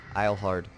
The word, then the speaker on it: Eilhart: be although I mean if we're pronouncing a proper rule properly it's probably pronounced Isle hard and helm guard because he's our Sherman